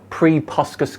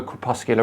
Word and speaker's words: crepuscular: lie t-dog oh sorry pre puskas clouds okay right we've been saying it wrong all these years it's no longer crepuscular rays it is now pre puskas clouds everyone right well